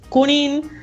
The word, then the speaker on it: Junín: Io sono la località, io sono a Buenos Aires, ma provincia a una località si chiama Junín, che là in Italia non si dice la Jota, si dice Junín.